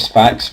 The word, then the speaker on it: Sphax: I don't actually know if that's how you pronounce it, but it's better than the alternative. I don't really want to brandish it with the other name that I'm sure you know what I'm talking about. So we'll call it Sphax, which I think is the proper way to pronounce it.